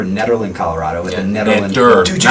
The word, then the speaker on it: Nederland: We're in Nederland, Colorado with a Nederland.